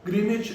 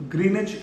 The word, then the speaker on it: Greenwich: हैं ग्रीनवे मिन टाइम लेकिन एक्चुअल में व साइलेंट रहता है तो ग्रीनवे मिन टाइम रहता था